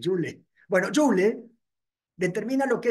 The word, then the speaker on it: Joule: Ya, Joule, como el Joule.